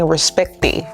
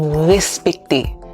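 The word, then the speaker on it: respekte: I'm not saying respecte. I'm not saying respecte. I'm saying respecte. Respecte. Okay, it's not a ra, ra, ra.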